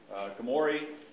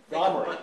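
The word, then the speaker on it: Gomory: Try Gomery. Gomery, okay. That's what I would have said. The emphasis on the wrong syllable here.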